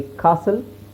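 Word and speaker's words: castle: ಆಗಿರುತ್ತೆ ಆಮೇಲೆ ನೋಡಿಎಸ್ಟಿಎಲ್ಎಸ್ಟಿಎಲ್ಇ ಕೊನೆಯಲ್ಲಿಎಸ್ಟಿಎಲ್ಇ ಬಂದರೆ ಈಟ is always silent ಇಲ್ನೋಡಿ ಕಾಸಲ್ ವಿಸಲ್ ರೆಸಲ್ ಈತರ ಕೆಲವು ಪ್ಯಾಟರ್ನ್ ಅಷ್ಟೇ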